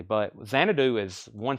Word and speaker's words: Xanadu: But Xanadu is one syllable.